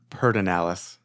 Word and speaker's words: Pedernales: I think a lot of people in the area says Pedernales. Okay.